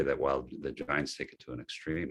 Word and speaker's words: Jains: That's almost like, is that I'm probably going to pronounce wrong, the Jains, the Johns, that's kind of their thing, like reduce your activity so you're not hurting anything. Yeah. Well, and I think in my mind, that is it's the activity of any religion that has any renunciant kind of flavor. The Jains, as I understand that it's pronounced, the Jains take that